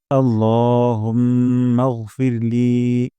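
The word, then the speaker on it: اللهم: আমরা তাহলে শুরু করছি আল্লাহুম্মা এখানে আল্লাহ বলবো না ল উচ্চারণ করবো এবং এক আলিফ টান দিব দুই সেকেন্ড পরিমাণ লম্বা করব আল্লাহুম্মা এখানে মোটা করে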